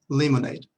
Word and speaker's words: lemonade: Lemonade. Se escribe muy similar. lemonade. Lemonade. Limonada y lemonade. Lemonade. De acuerdo. Recuerden, esta parte de aquí no se pronuncia, la letra E.